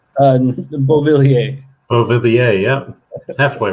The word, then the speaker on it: Beauvillier: Buvelier? Is that correct? Is that correct pronunciation? Beauvillier.